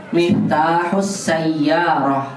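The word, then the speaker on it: مِفْتَاحُ السَّيَّارَةِ: Jadi bacanya miftahus sayyarah gitu.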